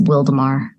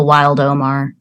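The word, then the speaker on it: Wildomar: So the USS Wildemar. And then people would mispronounce it and call it the Wild Omar.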